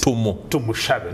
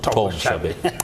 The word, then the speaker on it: Tumushabe: It's Tumushabe, not Tumushabe.